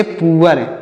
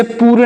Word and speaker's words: poor: POOR, इसे पढ़ेंगे पुअर। क्या पढ़ेंगे प्यारे मित्रों, इसे पूर नहीं पुअर पढ़ेंगे। POOR, इसे पुअर पढ़ेंगे, पूर नहीं।